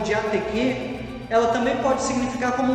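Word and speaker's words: διαθήκη: E esta palavra aliança, também no original grego, que é pronunciado como diateque, ela também pode significar como um contrato, como um concerto, como um testamento, como um pacto.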